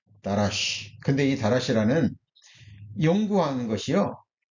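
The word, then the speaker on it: דרש: 설치라고 돼 있는데 자 원어로는 라시라 발음이 됩니다 자 뭐라고 발음이 된다고요 다라쉬 근데이 다라시 아는 연구하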